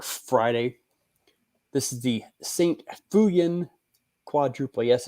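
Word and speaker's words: Feuillien: maybe tomorrow or Friday this is the saint fuyan quadruple yes it's pronounced fuyan oh it's a quad the quad nice I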